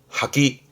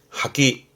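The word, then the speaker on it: 破棄: 발음은 하기. 하기 파기한다 그러잖아요.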